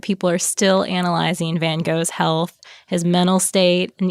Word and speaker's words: Van Gogh: can tell by now we're going to say Van Gogh which is the standard American pronunciation I think the Brits have a different way they say it y'all don't want to hear us try to save and hawk or however it goes I don't think